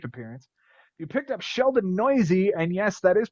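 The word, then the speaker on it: Neuse: You picked up Sheldon Noisy, and yes, that is how you pronounce his last name.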